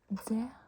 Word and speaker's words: det: And det, we don't pronounce the T.